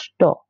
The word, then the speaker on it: что: And so, this is pronounced что. For a reason. You can't say ch, you can't say that ch with the t, right? And they, so they just kind of ch. Yeah, it's kind of really hard to pronounce, right?